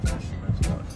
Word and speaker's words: Fisherman's Wharf: Yeah, Fisherman's Wharf.